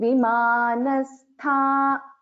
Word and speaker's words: विमानस्था: Here it is not na, it is na. Ta tha da dha na. Vimanastha.